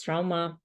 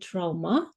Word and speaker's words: trauma: suffered a minor head trauma um and and this word trauma right oh we can um pronounce it trauma and also trauma both options are corre Cor in UK English you know and also